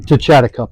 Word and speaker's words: Techatticup: All right, so we're here at the, how do you pronounce this? Techatticup Mine. Techatticup Mine, okay.